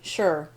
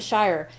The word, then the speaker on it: shire: where it's gonna say mmm sure or Shire depending if you want to go Hobbit or we're so sure sauce